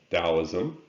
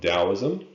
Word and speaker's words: Taoism: philosophy is taoism and sometimes you see it spelled with a t still taoism it was founded by